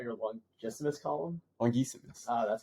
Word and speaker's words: longissimus: Not your longissimus column?